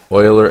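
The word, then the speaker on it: Euler: going to actually be Oiler angles or uler angles however you want to pronounce it I'm actually going to how to pronounce Oiler or uler Oiler yeah Oiler Oiler all right uh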